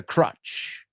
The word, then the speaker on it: crutch: the alcohol as a crutch okay and crutch rhymes with Dutch ores repeat after me crutch rhymes with Dutch rhymes with much rhymes with such right and crot as